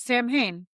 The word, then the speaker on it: Samhain: I'm never going to pronounce that right. It's Samhain. That's how you pronounce it.